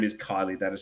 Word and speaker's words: Kyllee: young deaf girl in America whose name is Kylie. That is spelled Kyllee.